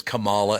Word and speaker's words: Kamala: name oh Kamala Harris it's Kamala everybody always says Kamala and her name is Kamala I do know that